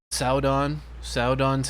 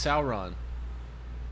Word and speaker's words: Sauron: Saudon's here. Saying it like that because Galadriel says Saudon every time. Oh, it's just her accent. No, she's just saying it wrong. It's Sauron, not Saudon, but I'm gonna say